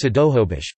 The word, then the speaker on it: Snohomish: For example, Snohomish is currently pronounced Sidohobish, but was transcribed with nasals in the first English language records.